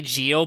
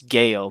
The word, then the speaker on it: GEO: I say Geo, but my wife corrects me. She always says it's Geo because it's how you say it in Japanese.